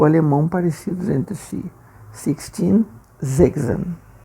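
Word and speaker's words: sechzehn: 16 zegzen. Atenção na pronúncia, né, do s iniciando a palavra em alemão. Tem um som de Z.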